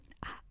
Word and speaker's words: あ: Ah, ah, ah, ah, ah. And if you turn back the page, you'll see ah see the pronunciation. It's like in attention, attention.